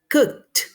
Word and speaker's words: cooked: Terminamos el sonido del verbo, esta ed lo vamos a pronunciar como una T, pero recuerde, cooked.